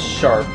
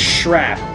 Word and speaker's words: Shrap: a while I always thought his name was sharp it's shrap how do you how do you pronounce sharp s-h-a-r-p his name is spelled shrap